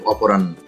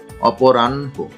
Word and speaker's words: অপরাহ্ন: অপরাহ্ন, অনেকে এটা ভুল উচ্চারণ করে, অনেকে বলে অপরাহ্ন, আসলে এর সঠিক উচ্চারণ হচ্ছে অপরাহ্ন, অপরাহ্ন, অপরাহ্ন।